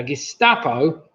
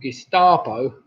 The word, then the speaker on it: Gestapo: Now, Gestapo, or Gestapo, kind of rhymes with Picasso, if you say it like with an R.